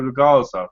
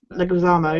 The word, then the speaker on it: Leguizamo: I mean, Bob Hoskins was amazing, so was Joe Legarza, if that's how you say it. Yeah. Leguizamo, yeah.